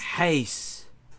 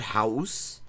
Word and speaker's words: huis: Huis. Not house.